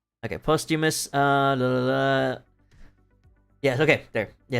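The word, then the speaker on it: Posthumus: It's like it's spelled Posthummus. P O S T H U M U- Sus. Postimus.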